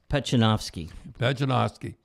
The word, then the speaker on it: Pechenovsky: Now, how do you pronounce that name, Tim? Pechenovsky.